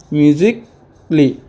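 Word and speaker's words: musically: একটু চক্ষু মদি তো বুঝি যে এ লেটার সাইলেন্ট থাকিব কি হইছে মিউজিকলি বেসিকলি আর লজিকলি আরো শব্দ আছে বুঝি কেন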